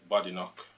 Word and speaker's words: Badenoch: Nigerian immigrant a student in regards to K bad knock that's the pronunciation yes bad knock bad knck and um